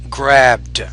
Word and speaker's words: grabbed: for example grab grabed grabbed you have to make sure you pronounce that as a d not a t so pronounce it with a little more D grabed look look perfect